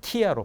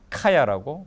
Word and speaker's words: Kia: 이거 제가 기아 자동차 폄훼하는 게 아닌데 기아 자동차를 그 KIA를 그대로 발음하면 키아로 발음하게 됩니다. 키아. 그래서 히브리어 레아키아 하면 토한다는 뜻이에요. 토한다. 그래서 이스라엘에서는 키아라고 발음 안 하고 카야라고 발음을 합니다.